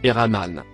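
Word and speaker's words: الرحمن: il est donc miséricordieux en langue arabe miséricordieux se prononce et rahmane maintenant le tout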